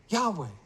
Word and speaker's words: Yahweh: 1,800 years before the Messiah came, we find evidence from these tablets in the British Museum, according to Haley's Handbook, confirming that the pronunciation is Yahweh.